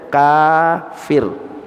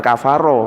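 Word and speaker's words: كافر: Kaf panjang Fa ro itu bacanya kafir bukan kafaro orang-orang ada tulisan kafaro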